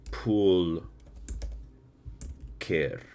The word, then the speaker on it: pulcher: Pulcher. Is it pulcher or like pool care? Just on the pronunciation, right? Just so I know. Pool care, right? Okay, it is okay.